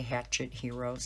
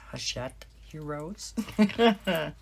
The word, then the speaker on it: Hachette: heroes i was told everybody's pronouncing that wrong when you say hatchet heroes it's hachette heroes so there are 40